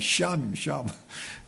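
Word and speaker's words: שָׁם: 히브리어 여호와 쌈마. 이 샴이다. 본토 발음은 샴입니다.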